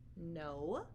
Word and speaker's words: know: Now, in all of those words, they all begin with K, but we don't hear a K sound at the beginning. We only hear the N sound.